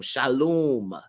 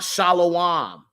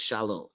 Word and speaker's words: shalom: h l u m Shalom not shalawam because there's no W you feel what I'm saying I mean I don't attack people if they say shalawam but I just say it properly it's shalom matter of fact uh